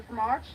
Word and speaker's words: fromage: Is it pronounced fromage? The fromage, Fromage.